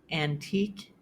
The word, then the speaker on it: antique: However, the Q can also sound like k in words that come from Latin. For example, bouquet, mosquito, plaque, antique, and boutique.